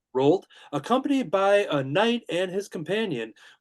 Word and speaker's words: Rold: Believing there is a small window to reap the benefits of a prophecy, Rold, is that how you pronounce it? Yes. Rold, accompanied by a knight